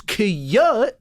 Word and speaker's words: Kike: It's Kiyut, but when it's spelled out, it's a little off-putting. Oh my God.